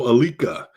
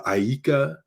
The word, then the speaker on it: Alika: first name a-l-i-k-a uh growing up i had a lot of people mispronounce it saying uh aika um stuff like that you know kalika a lot of funny